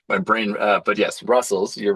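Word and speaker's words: Rustls: R side because uh Rust TLS is now pronounced Russell.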